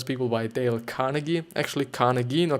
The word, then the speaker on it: Carnegie: friends and influence people by Dale Carnegie actually Carnegie nor Carnegie I've been you know pronouncing is named for the last 50 or